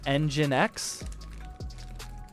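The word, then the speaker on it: nginx: how to pronounce it I think people call it engine X NG I NX do people say engine x i I haven't done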